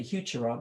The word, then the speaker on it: Heuchera: campagnulida that's a bluebell heuchera named for a man by the name of hucker some people say huchara but there is no